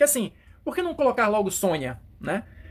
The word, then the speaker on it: Sonja: Consta aqui na revista a pronúncia correta do nome dela ela vai aparecer na edição seguinte aqui na edição 24 seria esta aqui olha Sônia Sônia eu fiquei eu